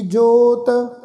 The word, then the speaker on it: जां: गर्बै मोह सोहै गर्बै, जां सब किछ तिसका दिया दरबै, जां जज्जे नू कन्ना इत्थे उपर बिंदी लगा के बिंदी सहित उच्चारण करांगे जां।